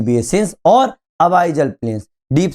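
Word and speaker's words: abyssal: सकते हैं अपन लोग, अबाइजल प्लेन्स बोल सकते हैं। कई लोग इसको अबिजल प्लेन भी बोलते हैं, ठीक है। मैं इसको हमेशा अबाइजल प्लेन बोलता हूँ। ठीक है, प्रोनाउंसिएशन हर किसी का अलग हो सकता है, लेकिन दिमाग में रखना अबाइजल प्लेन।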